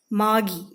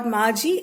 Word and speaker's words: Margie: is a girl named Maggie Maggie or Margie it's pronounced both ways so we will keep